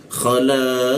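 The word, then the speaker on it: خَلَقَ: Jadi cara membacanya adalah khalaqa ya, qa. Dipanjangkan dulu 3 ketukan lalu masuk ke qa-nya.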